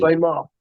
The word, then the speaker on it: Meagher: Ray Marr. His name's Ray Marr. It's spelled funny, M-E-A-G-R-E.